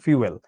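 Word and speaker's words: fuel: ফুয়েল কিন্তু উচ্চারণ না, উচ্চারণ ফিউয়েল।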